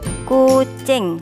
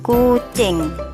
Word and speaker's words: kucing: bahasa Jawa hewan ini disebut kucing tulisannya kucing i-nya dibaca e jadi kucing tasih semangat sinau ngih